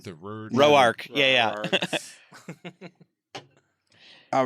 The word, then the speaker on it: Rourke: Mike Rourke. Rourke. Mhm. Rourke. Am I saying it right? The word. Roark.